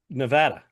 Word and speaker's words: Nevada: Nevada. Nevada, not Nevada. Nevada. It's not Nevada. It's Nevada. Nevada.